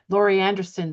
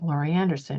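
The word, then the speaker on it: Laurie Anderson: and the trailblazers and the brave people who Lori Anderson said the reason most reason the biggest reason why she's an artist is she wants to have freedom.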